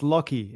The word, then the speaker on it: Lachy: Lachy? Yeah, pretty close. So it's Lachy. It's Lachy. A weird Australian name. It's spelt strange.